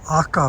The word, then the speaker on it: aka: This red Shigitatsusawa, and in Japanese it is pronounced Aka, means red, Shigitatsusawa.